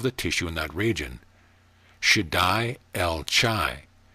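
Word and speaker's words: Shaddai El Chai: tissue in that region should die el chai pronounced should i el chai the ch is guttural as in the words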